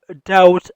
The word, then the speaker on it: doubt: we have doubt on Umar. we have doubt on Umar. doubt ویل کېږي شک. په doubt کې بی نه تلفظ کېږي، بی سایلنټ ده.